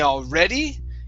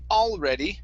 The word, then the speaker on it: already: So instead of saying when we already, okay, putting the stress at the end of ready, it's when we already have them. So stress at the beginning here.